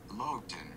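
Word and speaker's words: Loaghtan: Pronunciation. Well, here's this word. Let's see. Just 16 seconds. Lowton.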